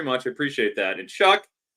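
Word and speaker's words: Shough: I appreciate that and shuck it's sh it's like shuck corn Tyler sh is what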